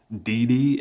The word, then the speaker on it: DD: If you watch the anime, it's pronounced double D and triple D, whereas in the English sub, it's DD and DDD.